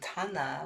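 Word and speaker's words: ṭhāna: And Tana, which is spelled Thana, means foundation or standing in place.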